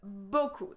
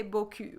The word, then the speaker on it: beaucoup: So there is two syllables here that you really need to get on point. The first one usually is not too complicated when you know that E-A-U is the sound O, beau.